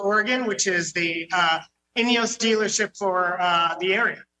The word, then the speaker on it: Ineos: which is the uh inos dealership for uh the area wow well that's a fancy dealership there I like it all right so did I pronounce it right inos yes inos Grenadier is the name